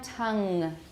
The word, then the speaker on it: tongue: not tongue all right so no k at the end although some people in some dialects will say tongue in both Britain and the US like in New York some people will say Tonga but for standard U.S English no everyone tongue good tongue pun fun G